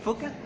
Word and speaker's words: Phuket: Have you ever heard about Phuket? It's not spelled Phuket, but it's spelled Phuket.